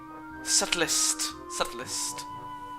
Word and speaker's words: subtlest: Subtlest of crashes. The B is silent. I forgot that.